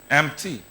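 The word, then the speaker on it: emptied: C'est comme ça que vous prononcez en anglais. E-M-P-T-I-E-D. Amptide, c'est ça? Empty, c'est ça, comme ça.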